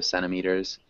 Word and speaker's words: centimeters: centimeters centimeters yeah and that's one of those words where we kind of can swallow the T So centimeters um but yeah that